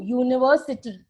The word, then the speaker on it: university: what is the rule even if the letter is a vowel but the vowel sound is absent then we cannot use an we have to use a a European a one rupee note okay so one I